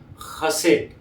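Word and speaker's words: chesed: बहुत ही अलग है स्पेलिंग है सी एच ई एस ई डी पर इसका प्रोनाउंसिएशन होता है खसेट खसेट है ना अब उसमें जो डी है वो बहुत साइलेंट है खसेट ऐसा बोला जाता है इसको ट नहीं है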